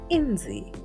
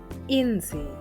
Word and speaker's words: inzi: The next letter is also a vowel, and it is pronounced as E. E. And the word is inzi. inzi, meaning fly in English.